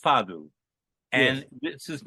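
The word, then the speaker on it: fado: the queen of fadu it's spelled f a d o but in Portugal it's pronounced fadu and this is not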